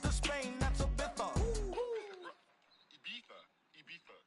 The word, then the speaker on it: Ibiza: Ibiza. Yeah, it's pronounced Ibiza, actually. What's the difference, man?